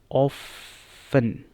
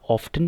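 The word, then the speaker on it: often: अच्छा, next word जो हमारे पास है वो है ऑफन, या ऑफ्टन भी ठीक है, आपको क्या लगता है, ऑफ्टन भी ठीक है। तो both of these pronunciations are correct, ऑफ्टन एंड ऑफन।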